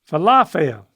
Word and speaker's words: falafel: father fail okay and try emphasizing the falafia yeah emphasize the middle syllable falafel that's really close Falafel Falafel Falafel it's like how you feeling today Falafel that's how I remember it I feel awful oh Falafel that's it's